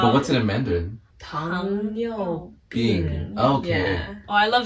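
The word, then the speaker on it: 糖尿病: Tong Yu Bing.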